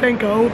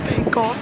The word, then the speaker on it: Van Gogh: Also, I thought it was Vincent Van Gogh, but it's Vincent Van Gogh, so sorry for the mispronunciation.